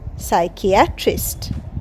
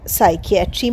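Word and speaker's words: psychiatry: মিথ্যা হি গেউ নেম সে ভু নাম দিল সাইকিয়াট্রিস্ট পি এস ওয়াই সি এইচ আই এ টি আর আই এসটি সাইকিয়াট্রিস্ট এখানেও পি সাইলেন্ট সাইকিয়াট্রিস্ট মানে মনোরোগ বিশেষজ্ঞ পেশেন্ট ভিজিটেড সাইকিয়াট্রিস্ট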